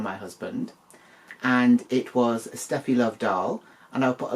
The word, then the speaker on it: Steffi Love: doll for Christmas um this is obviously Stephy love or sty love because she is a German doll and that's apparently how they pronounce it um now not only